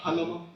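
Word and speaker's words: Jalomo: Uh Halomo. Uh spell it for the court reporter.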